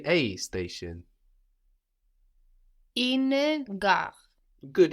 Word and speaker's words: une: Une gare. Good, it's U-N-E, but the E is mostly just letting us know to pronounce that N, no?